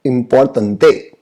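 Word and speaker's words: importante: तो आप समझिएगा, इंपॉर्टेंट को स्पेनिश में बोला जाता है इम्पोर्टेंटे। इम्पोर्टेंटे। स्पेलिंग में ज्यादा फर्क नहीं है, लेकिन प्रोनाउंसिएशन देखिए क्या है।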